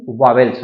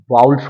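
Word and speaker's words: vowels: बात करते हैं वाउल्स आप इसे क्या पढ़ते हैं वावेल्स तो ये वावेल्स नहीं होता है बल्कि क्या होता है वाउल्स होता है और वाउल्स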